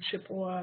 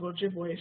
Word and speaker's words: Ojibwe: We don't use that term Chippewa, that's an incorrect pronunciation of Ojibwe, so we just call it Bear Island Flint.